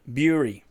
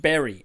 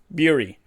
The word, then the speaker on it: Bury: It should be pronounced bury, as in digging in the ground and burying something, because that's how it's spelt. Well, there's also other berries, but that's spelt differently. However, we don't sit on a jerry, we sit on a jury.